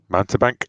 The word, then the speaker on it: mountebank: Benson who is and I'm not sure quite how to pronounce this the Monty Bank is that right I think Monty Bank mountebank yep the mountebank and he is somebody